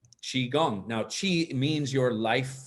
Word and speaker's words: qigong: define it and say because it's spelled q i and people don't often see the word say oh i know how to say it so now you know how to say chi chi gong now chi means your